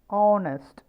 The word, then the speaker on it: honest: is hair, behave, hour, honest. You might be wondering why the words h in hour and h in honest is in blue color. It is because we never pronounce actually this particular sound.